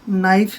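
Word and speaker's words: knife: यह होता है की यहां पर कैसे साइलेंट राहत है के नहीं बोला जाता तो यह रहेगा की के एन आई एफ आई एफ नहीं पढ़ना है नाइफ है नाइफ पढ़ेंगे ये साइलेंट है अब जैसे यह है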